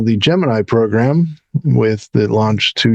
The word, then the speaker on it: Gemini: I think most people do but NASA actually issued and I'm still not sure why a press release that it was to be pronounced Geminy. Gemini.